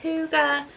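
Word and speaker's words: hygge: And then I got the little book of Huga. Yeah, that's how you pronounce it.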